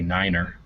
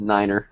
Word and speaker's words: niner: they're the same no you say Niner yeah I was going to say it's Niner not nine oh said oh yeah